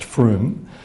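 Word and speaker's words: Frome: the county of Somerset in the UK called Froome if you decide you wanna doodle this later it's spelled fr om a if our ome it's pronounced Froome about five years ago a GP in the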